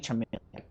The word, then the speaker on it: Charmeleon: It has to be Charmeleon, like Char.